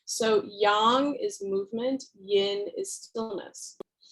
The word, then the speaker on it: yang: don't say yang please don't say yang it's like nails on a chalkboard and i swear to god i'm going to pick my jugular out you say yin and yang it's yang is how we pronounce it right so yang